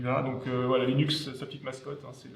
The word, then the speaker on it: Linux: Alors Linux en anglais se prononce Linux et non pas Linux, selon la volonté du créateur.